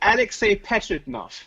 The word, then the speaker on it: Alexei Pajitnov: And another one was with, I'm going to try and say his name, Alexei Pajitnov. I can never say it. The creator of Tetris. No, it's actually Alexei Pajitnov.